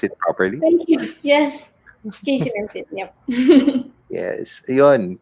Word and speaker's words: KC Mempin: I am with Miss KC Mempin. Did I pronounce it properly? Thank you. Yes. KC Mempin.